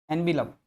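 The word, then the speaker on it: envelope: आपने कहा शी हैज एन एनविलप, एनविलप, एन एनविलप, इसको एनविलॉप बोलते हैं ना, इसका प्रोनाउंसिएशन होता है एनविलॉप, ठीक है ना।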